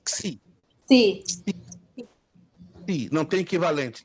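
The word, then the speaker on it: ξ: Xi.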